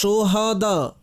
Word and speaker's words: শোহাদা: রাসূল রিহানাতুর রাসূল সুবহানাল্লাহ এখানে সাইয়েদুশ শোহাদা হা এর মধ্যে জবর পড়বেন সাইয়েদুশোহাদা শোহাদা শোহাদা শোহাদা সাইয়েদুশ শোহাদা সাইয়েদুশ শোহাদা সকলেই এর উচ্চারণ করুন বাপা আপনি শিখিয়ে দিন শোহাদা আসলে এটা আরবি শব্দ শহীদের বহুবচন শোহাদা আর হিন্দিতে শোহাদা হবে যখন হাকে সাকিন পড়বেন হাতে জজম হবে শোহাদা এর অর্থ অভিধানে